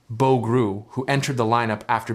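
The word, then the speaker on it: Bo Groulx: The coach also spoke about the performance of forward Bo Gruel pronounced Bo Gruel who entered the lineup after being called up earlier in the day.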